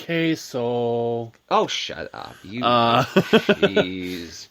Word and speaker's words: queso: It's queso, isn't it? I call it quao because god forbid I No, it's it's queso. That sounds like someone is undecided. Like queso.